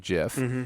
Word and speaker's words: GIF: video uh trigger warning the narrator pro you know prefers a soft uh uh g pronunciation of uh jiff and then the comments